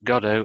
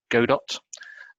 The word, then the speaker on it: Godot: There's since been an open source product called it's either pronounced Godot or Godot, and I'm quite interested in that, and I